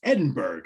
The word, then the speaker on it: Edinburgh: How do you get Edinburgh from the way that word is spelled? I must have asked this before. It's Edinburgh.